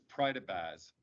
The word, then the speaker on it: Prydybasz: My last name is Prydybasz, and it's 3 syllables, Prydybasz, and it's Ukrainian and been mine for a long time.